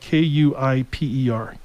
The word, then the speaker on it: Kuiper: It's spelled Kuiper.